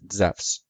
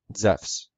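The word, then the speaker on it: Ζεύς: o u s in greek the name zeus is spelled zeta epsilon upsilon sigma which is zephs or if we spell the greek name with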